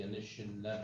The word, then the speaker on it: Anishinaabe: and processes in the best interest of the Anishinaabe, did I pronounce that right?